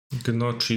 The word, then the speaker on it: gnocchi: The N is silent in Gnocchi.